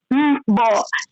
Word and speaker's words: mbo: our Maroon fast food, we call it mbo, MBO. MBO. That's how you write it. Mbo. Okay. MBO. You can MBOO because I say it long. Mbo. That's how we pronounce it.